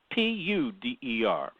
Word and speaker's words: Puder: Puder is Puder. Marilyn Puder. Am I pronouncing Puder it wrong? like the metal.